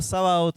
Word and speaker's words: Sabaoth: Jehová Sabaoth, este me encanta. 1 Samuel 1:3. Sabaoth se escribe como suena, pero Sabaot.